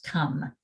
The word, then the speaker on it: come: should we say it it should rhyme with home but it doesn't it's come and the last one